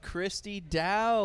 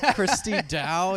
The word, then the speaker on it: Kristie Dowe: to Commander echo's guest of honor we have Christy da with us is that am I pronouncing that correctly yes you are pronouncing it correctly simplest name ever Christy da yeah she has she has three titles you